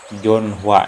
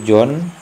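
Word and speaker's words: 전화: Nah, kalau ininya terpisah, ini bacanya Hua. Jonhua. Nah, itu salah. Yang benar itu Jonwa atau Jonwa atau Jonwa ya. Dan yang ini ke sini. Jonwa. Ya, bukan Jonhua, tapi Jonwa. Hiat itu tidak berbunyi.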